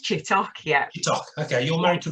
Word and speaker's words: Chittock: I know about you your name's chittick I think you are name is pronounced chittock yeah okay you're married